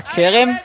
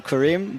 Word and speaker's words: Kerem: We almost switch her name to, instead of Ayala Kerem, Yeah. to Karim, but Let's go. I mean Kerem. That's the right pronunciation.